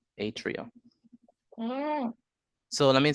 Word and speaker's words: atria: a yes all right so we call it at Trio Atria so let me say it again let me